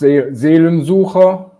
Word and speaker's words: Seelensucher: it's pronounced Seelensucher, and Okay, we cool.